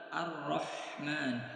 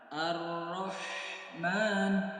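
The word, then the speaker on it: الرحمن: Huruf ha kecil baik dalam keadaan berharokat ataupun dalam keadaan sukun, cara pengucapannya harus disertai dengan tekanan. Ar-Rahman, Ar-Rahman. Dia kalau tidak ditekan maka akan menyerupai huruf ha besar. Ar-Rahmani. Kalau ditekan Ar-Rahmani, dia akan sempurna sesuai dengan tempat keluar hurufnya. Maka harus diperhatikan cara pengucapan huruf ha kecil.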